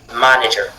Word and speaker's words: manager: Manager manager. Vous voyez que le fait que la syllabe ma du départ soit accentué vous oblige à prononcer manager.